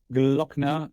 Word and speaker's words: Gloeckner: way uh all right social media YouTube Max glockner G l o e c k n e